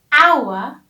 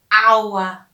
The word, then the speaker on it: hour: which means 60 minutes hour starts with the consonant h but i don't say how so you don't hear the the h you hear our so it is as